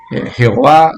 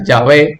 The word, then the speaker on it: Jehová: de dios ya ve jehová no se conoce mal traducido más pronunciado pero bueno así es como se conoce en casi todo el mundo hispano jehová sería llave prefiero decir llave pero quiero decir que